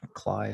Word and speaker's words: Klay: Klay is spelled like clay, but with a K.